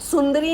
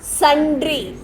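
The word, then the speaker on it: sundry: सुंदरी नहीं होता है। क्या होगा? संड्री। एस यू एन डी आर वाई।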